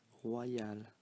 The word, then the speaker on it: royal: Remember that when you put a Y after an O, you get the sound wa. So it's like this here was written like that. So it's pronounced royal, as you see in the phonetics transcription here, royal.